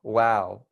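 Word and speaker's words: و: wow we have um basically exactly like saying wow but we're smiling so wow that is awesome so that's what we have wow but we smile wow wow so that's how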